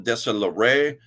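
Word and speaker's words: Deslauriers: Anika Chambers and Paul desolaray good trouble you like that he's a friend he's from Canada and I know how to say his name in the French mode desola Ray okay now we're into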